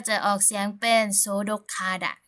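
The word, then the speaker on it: 소독하다: จะ ออก เสียง เป็น โสดก คาดะ ไม่ โสดก คาดะ นะ ฮะ เมื่อ ตัว สะกด ก ไก่ ไป เจอ กับ พยัญชนะ ต้น ห นก ฮูก นะ คะ เสียง น้อง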